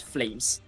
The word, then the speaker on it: Flamez: with Kevin, Godi, and I believe his name is read as Flamez. I'm not very certain if it's you pronounce it Z, Flamez? but it's Flamez.